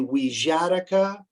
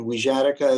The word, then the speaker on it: Wixarika: encourage you to visit the website of the weejatika research center and wizardica is spelled w-i-x-a-r-i-k-a the wijatika research center website it has a donations page